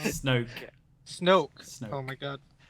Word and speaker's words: Snoke: Uh, no, that's a very interesting theory on who Snork is and and um Snork. Snork. Yeah. Supreme leader Snork. The underwater breathing bad guy. Did I say his name wrong? Snoke.